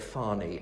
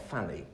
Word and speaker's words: Fani: names to make sure I said Fani and not fanny and people are saying